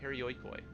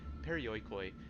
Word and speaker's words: Perioikoi: In other words, while Spartans concentrated on war, the Perioikoi, that's gonna, okay, cut out a syllable. I'm sorry, I've been reading that wrong. Perioikoi focused on everything else.